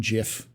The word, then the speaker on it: GIF: reason well it's like it's like the guy it's like gif and jiff no one calls it a gif it's a g it's a gif uh okay there is